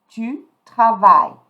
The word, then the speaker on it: travailles: Tu, I'm not going to pronounce the E, I'm not going to pronounce the S. Tu travailles.